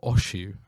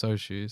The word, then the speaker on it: Oshu: Some people say like Oshu, and I'm like, no, it's Oshu.